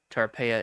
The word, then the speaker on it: Tarpeia: Tarpea is spelled t a r p e i a.us.